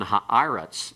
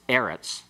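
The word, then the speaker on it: הָאָרֶץ: Well, like in this, for example, in this situation, on ha'aretz, it's a segolate noun that is always accented on the next to the last syllable. It's eretz, not eretz.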